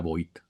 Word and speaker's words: Vought: Y entonces el superhéroe no es eso para Voight. Es o Voight, ¿no? Es Voight, ¿no? Me parece que es Voight, la pronunciación correcta.